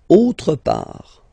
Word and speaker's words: autre part: Don't pronounce the final T. Quelque part. Quelque part. Autre part.